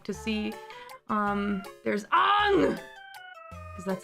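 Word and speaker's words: Aang: the movie it's it's Ang the sound that you make when you stub your toe yeah or you bite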